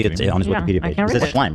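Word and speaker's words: Shlaim: Schlime, right? Yeah. Yeah. Schlime.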